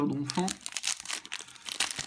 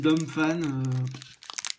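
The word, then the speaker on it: Donphan: moi je dis d'enfant le nom écrit pour les Français je le prononce à la française ETI un m devant le P parce par que devant un P on met un M et c'est tout donc je dis donfant alors al une énergie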